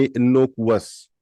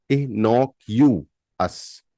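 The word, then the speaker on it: innocuous: यू एस तो ऐसा लगता है सुनने में इनोवस राइट इसका सही उच्चारण है इ इ इ ह इ knock Enoch you Enoch you अस इनोक्यूअस इनोक्यूअस Enoch यूएस Enoch यूएस Enoch यूएस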